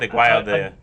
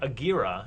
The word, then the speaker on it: Aguirre: Aguayo, it's actually, I think, Agira. It's Aguirre. pronounced Wrath of God.